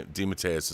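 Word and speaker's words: DeMatteis: So, de D Matus is the way to do it.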